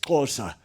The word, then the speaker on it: Xhosa: the second biggest is closer spelled xhosa and pronounced closer as if you were riding a horse and you're going in the side of your mouth and Mr Mandela for